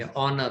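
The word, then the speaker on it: honour: है ऑनर होता है ह से शुरू नहीं करेंगे ओ से शुरू करेंगे ऑनर। ऑनर का मतलब सम्मान। तो जो कि ये ऑनर जो अल्फाबेट जो सॉरी जो वर्ड है वो उसका जो उच्चारण होता है वोवेल का उच्चारण तो हम इसके सामने लगाएंगे एन ऑनर। एन ऑनर अ ऑनर गलत है।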